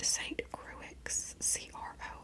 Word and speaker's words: St. Croix: Jennifer and her boyfriend Rob had just gotten back from a vacation where they went to I'm hoping that I pronounced this right, St. Croix, Croix.